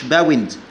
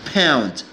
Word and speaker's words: pound: LE ده اختصار كلمة pound جنيه مصري، مش باوند، لا pound. هنا نفرق بين ال P وال B، هنا P.